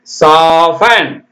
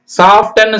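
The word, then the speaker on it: soften: ஓ எப் டி என் சாபன் சாஃப்டன்னு சொல்றாங்க தப்பு மிருதுவான சாஃப்டன் யூக்கெல்லாம் இனிமேல்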